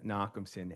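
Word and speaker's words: Nochumson: Could you um please state your name and spell it for the synographer? Knockson.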